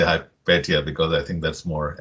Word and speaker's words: Hypatia: typically heard hypatia so i'm going to say hi petya because i think that's more accurate we accept